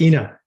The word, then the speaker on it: Ina: INNA. That's Ina. Ina. Yes, So Ina, this is a really great question, okay?